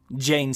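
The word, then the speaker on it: Jeyne: to hold her still jane jane it rhymes with pain he tightened his grip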